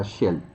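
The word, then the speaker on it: של: Pero dentro del texto que vamos a estudiar, vamos a darnos cuenta que existe una partícula que se pronuncia shel.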